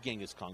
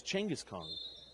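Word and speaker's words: Genghis Khan: I wonder if Tangus is spelled is said Changis because many times we say Gangask Kong. It's not Genghask Kong, it's Changis Kong.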